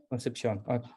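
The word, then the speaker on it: Concepción: her studies in Chile at the University of conception concept did I pronounce that right yeah conception sorry and um and then she also has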